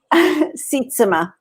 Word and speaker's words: Sietsema: ways we don't need last name knowledge right sitsima yeah um well i'm so thankful that you're